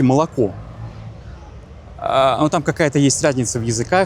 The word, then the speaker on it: молоко: Почему вы пишете молоко, а произносите молоко?